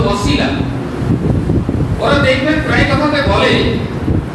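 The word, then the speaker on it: وسيلة: শব্দটা হচ্ছে একটি আরবি শব্দ, যার যে শব্দটা হলো ওয়াসিলা, লাম ছোট দাম, যার যেটা হচ্ছে উচ্চারণ হচ্ছে ওয়াসিলা।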